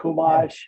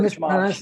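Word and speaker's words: חומש: Chumash, I've been church mosh.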